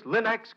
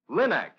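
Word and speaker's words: Linx: Your fine furniture, for example, always looks its gleaming best when you use Linux cream polish, the furniture aid that gives a handsome luster in half the time.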